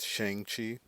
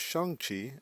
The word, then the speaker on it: Shang-Chi: many people for most of my life i pronounce it shang chi but kevin feige came out and told us that it was shangqi and that's what he says that's what we're